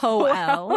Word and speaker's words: Joel: Okay, number one, this person's name was Joel, which Joel. no, Joel is how that's pronounced.